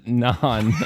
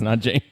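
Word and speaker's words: Nanjing: first Beijing or noning Mike says nonan I should have I should have told you how it's spelled it's n an but uh Kev says Nan also awesomely spelled and Andy said n Jing that's correct it's n Jing and Andy had it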